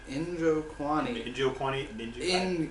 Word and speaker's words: Njokuani: Chidi, how do you pronounce this last name? Njokuani.